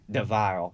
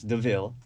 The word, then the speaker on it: Deville: And he told me when I came in, I kept calling him Deville, but it's Deville.